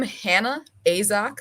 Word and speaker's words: Hannah Asok: her sure thing yeah so I'm Hannah asok that's how you pronounce my name I am a dragon